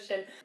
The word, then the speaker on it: sinn: We say muid instead of shin. And people all over the world know about shin from Sinn Féin.